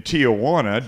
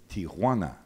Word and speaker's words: Tijuana: bad this afternoon in Tijana don't I sound like a tul yes you do sound like a tul because you don't know how to pronounce it there's no a it's Tiana H buening guy yeah